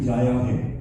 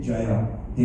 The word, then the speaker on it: Jaya Hai: got the exact pronunciation because the UK tongue goes to Jaya Hai. That's what they normally do. So I had to tell them that it's more like a J-U-Y-A, Jaya Hai, and they got it pretty much immediately.